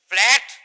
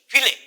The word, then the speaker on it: fillet: লেমনিসকাস মানে ফ্ল্যাট nerve fibre band. ঠিক আছে, এটাকে ইংরেজিতে একটা শব্দ বলা হয় FILLET, ফিলে, ফিলে উচ্চারণ।